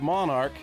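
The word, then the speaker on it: Monark: Pronounced Monarch like royalty only spelled different.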